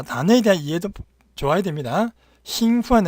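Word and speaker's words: 兴奋: 兴奋 은 우선 발음이 일성이고 兴奋.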